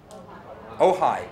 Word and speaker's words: Ojai: The principal rejected it and said, this was in, I think, is it pronounced Ojai or OJ? Ojai, thank you.